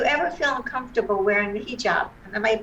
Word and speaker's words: hijab: students do you ever feel uncomfortable wearing the hijab am i pronouncing it correctly yes totally correct right i